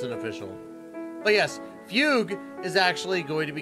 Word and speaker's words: Fugue: of course my wife Fugu or sorry Fugue um because I guess that's her actual pronunciation and people have okay